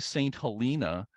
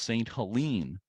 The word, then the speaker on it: St. Helena: that locally it's pronounced St. Helene, as if it has an E at the end rather than Helena, which I'm not sure